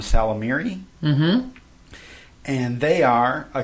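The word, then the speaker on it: Ysalamiri: Called, it starts with a Y, but I believe the Y is silent, so I'm just going to call them Salamiri.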